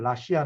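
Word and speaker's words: La Silla: 그 스페인을 잘 보신 영어발음 하시면서 신라 라고 말씀하시는 분도 있지만 은 그 정확한 발음을 라씨 아 라고 읽는 게 맞고요 맛이야 라고 하는 그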